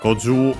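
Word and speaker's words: 五十: Well, goju I can check simply in the online dictionary. Yeah, simply accent on the ju. Goju, low, high, because on the ju, and then low for the longer u.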